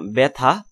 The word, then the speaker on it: ব্যথা: তারপর জফলা উচ্চারণের সূত্র দেখো, ক নম্বরে আদ্যবর্ণে জফলা যুক্ত হলে বর্ণটি অ কারান্ত বা আ কারান্ত হলে উচ্চারণ এ কারান্ত হয়ে যায়, যেমন ব্যথা ব্যথা ন্যায় ন্যায় ইত্যাদি।